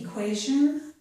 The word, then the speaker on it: equation: This one is equation. It's almost always the zh sound. A few people might pronounce it with a different sound.